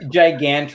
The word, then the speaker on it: Gigan: how to pronounce it it's gigon like gigant ganton okay all right gigant